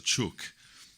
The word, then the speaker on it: chook: There's lots of different ways that you can house a chook, as we call them. It's spelt CHOOOK.